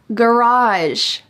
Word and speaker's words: garage: of an unusual story garage garage this is the American English pronunciation with hard G sounds garage I'd park my